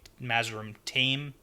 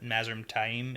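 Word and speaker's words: Mazrim Taim: is Masum Taim and there's a little bit of distinction on how you can pronounce that because I've heard some people say Mazarin team but Maz room time is how we're going to go with it but it's important to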